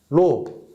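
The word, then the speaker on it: ρ: 로 A분의 L 이렇게 쓸 수 있습니다. 자, 여기서 이거 읽을 때 뭐라고 하냐면 로라고 읽어요.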